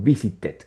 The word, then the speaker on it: visited: Recuerda que visit es un verbo regular y termina en T.